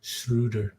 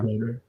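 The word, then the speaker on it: Schröder: Dennis he said that his last name is pronounced shudder and not Scher correct it's shud um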